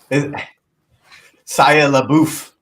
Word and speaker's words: Shia LaBeouf: Shia LaBeouf. That's how you pronounce it, Rob.